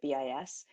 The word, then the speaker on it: BIS: of the ways that bis we pronounce it bis one of the ways